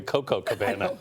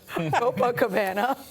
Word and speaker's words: Copacabana: I like the Coco Cabana. Copacabana. That's how it's pronounced.